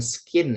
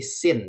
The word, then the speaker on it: scene: Nah, itu bukan skin ya, tapi scene. Jadi C-nya tidak dibaca.